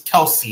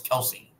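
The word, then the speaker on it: Kelce: supposed to say it no it's it's it's Kelsey it's not kelse it's Kelsey yeah that's what he that at least that's what he said I mean his brother pronounces it Kelsey yeah that's what I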